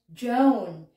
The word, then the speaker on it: Joan: joanne as well so it's the same jo an so in this sample